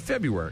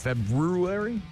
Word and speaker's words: February: is the month of February mhm Valentine's Day in just a couple weeks February is that two weeks from today why do they put the r in there if we don't pronounce it what is this what